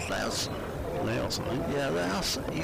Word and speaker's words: Laos: He's had one in from, how do you say it, Laos, L-A-O-S, Laos? Laos, I think.